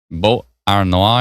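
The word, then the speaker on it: Beauharnois: How do you pronounce that here? One sec. It's uh Bo Ar Noah area is going to see some pretty strong winds here.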